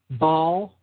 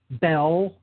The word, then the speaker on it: Baal: Phonetically, the name Baal can be rendered Baal or Baal, Baal, Bell, Bill, or Bull.